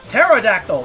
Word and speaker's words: pterodactyl: is that oh it's pterodactyl not the pterodactyl why is the P silent well the p is silent then why is it there what's the point it's